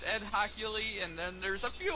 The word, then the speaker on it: Hochuli: I didn't know how you pronounce it. Yeah, it's Ed Hochuli, and then there's a few other guys like Jerome Boger.